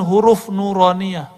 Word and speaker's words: nuraniah: huruf-huruf ini disebut dengan huruf nuraniah huruf-huruf nurah makanya ribat tuh kita kasih nama nuraniah itu bacanya nuraniah huruf-huruf cahaya dan dulu